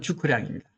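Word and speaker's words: 諸葛亮: 제갈량 같은 경우는 중국식 발음은 주커량입니다.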